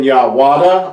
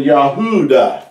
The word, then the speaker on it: Yahudah: is pronounced as Yahuwah, because Yahudah has always been pronounced that way. It's never been Yahwada or Yahvada, but it's been Yahudah.